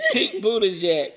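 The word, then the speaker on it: Buttigieg: and that's by pete buddy how do you pronounce it it's pink buddha jack oh right young just turned his last name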